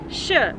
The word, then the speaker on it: š: Sh is also very easy to pronounce, actually even easier, because a similar sound exists in English when you put the letters S and H together, like in the word shoe, for instance.